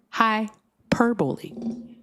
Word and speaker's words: hyperbole: It's hyperbole. So without the Oh, wait. So it is hyper. So hyperbole. Oh, so it's not hyperball.